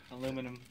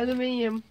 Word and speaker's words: aluminium: Aluminum. Last thing. Aluminium. Aluminium. Confirm. Engage. You gotta pronounce like the British.